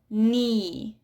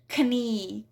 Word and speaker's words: knee: And for the silent K, we do not pronounce K when it's followed by N. So we have knife, knee, knowledge. So it's not knife, knee, knowledge.